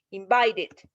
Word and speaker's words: invited: Invite termina en T el sonido. Fíjense, aunque se escribe con E, el sonido realmente es T. Entonces es la tercera regla, termina en T, entonces es con id. Invited. Entonces este se pronunciaría invited, como id.